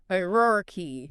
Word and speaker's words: hierarchy: But the correct way is H-Y-E-O-year. Hierarchy. Yeah. Okay. Emphasis on that first syllable.